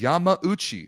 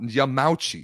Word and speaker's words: Yamauchi: It is Yamauchi, not Yamauchi.